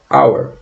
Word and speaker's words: hour: Porque esse H, ele é um som neutro. Então a gente vai ler apenas essa parte aqui, que seria hour. Na questão da pronúncia, viu, pessoal?